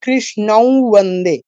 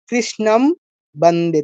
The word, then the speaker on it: कृष्णं वन्दे: যেমন এখানে অনুসারটা কি হবে, কৃষ্ণৌ বন্দে, ম হবে না, অন্য কিছু হবে না, একটা